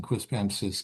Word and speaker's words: Quispamsis: I can just say I've never been prouder of you pronouncing Quispamsis correctly.